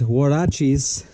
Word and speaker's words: huaraches: for the light bar bunch of tools somebody's huaraches that's how you say it in Spanish with